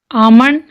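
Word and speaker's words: almond: काम, बाम, पाम, walk, talk, Chowk, semen, Fock, yoke, आमंड, शुड, इसको हम शुल्ड नहीं बोलेंगे, शुड, could, would, L silent है।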